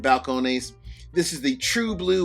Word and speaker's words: Balcones: Balconies or balconeses, whichever way you want to pronounce it. Balcone.